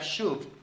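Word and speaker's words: שוב: vienen de Raíces de un verbo que se pronuncia shood este verbo significa volver regresar retornar o sea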